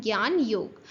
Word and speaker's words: ज्ञान योग: से मेंशंड होता है बट इसको हम प्रोनाउंस करते हैं ज्ञान योग।